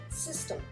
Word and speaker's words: system: De toute façon, quand on prononce en français système, on ne dit pas système E. Peut-être pour certaines régions, on aurait tendance à faire des extrasyllabes, mais là, en l'occurrence, non. Donc là, on va dire plutôt system. J'ai mis comme ça pour vous faire comprendre que c'est un son et pas un son M.